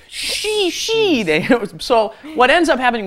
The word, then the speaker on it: 쉬다: Notice the pronunciation. Originally, it should be like 쉬, right? It's we is how it's written, we. But actually, it ends up being pronounced she. Yeah, they don't quite do the we part so much on this verb.